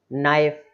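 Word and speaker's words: knife: नाइफ, चाकू, ये भी बहुत यूज होता है, यूजफुल वर्ड है नाइफ, है ना, चाकू, तो एन के पहले के आ रहा है, इसलिए यहाँ पर के जो है वो साइलेंट हो गया, ध्यान रखें।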